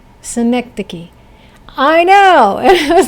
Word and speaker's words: synecdoche: Synecdoche. Nope. Synecdoche? Nope. What? It rhymes with Schenectady. It's Synecdoche. Synecdoche.